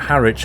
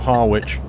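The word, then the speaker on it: Harwich: case you don't know you pronounce that harit not harwitch the truck you're you're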